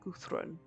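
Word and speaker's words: Guðrún: So this fancy swirly D is pronounced more like a TH. So it'd be more like Guthrun. So that bugs me, and her interactive should have figured that out. That you wouldn't pronounce that like a D.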